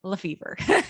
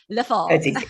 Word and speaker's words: LeFevere: It's my husband's last name, but his family pronounces it LeFevere. They do not say LeFevere.